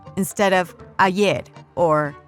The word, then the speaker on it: ayer: They pronounce their double L's and Y's with a sh sound, as in ayer or calle, instead of ayer or calle.